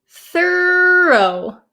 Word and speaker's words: thorough: The first word, first word here is thorough. Thoro. Okay. So, there's a little bit of an inonation difference, too.